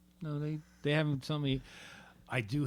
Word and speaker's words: Ngo: No, is that NGO? No, yeah. So the N silent.